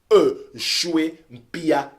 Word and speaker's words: Nshue Mpia: Choué s'écrit N-S-H-U-E. Chouempia. M-P-I-A comme vous l'entendez.